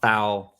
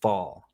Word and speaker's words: Faul: Yes, not foul, Faul.